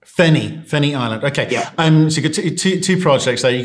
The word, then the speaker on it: Feni: How do you pronounce the first one? Yep. Ferguson Island and Fenny. Fenny Island.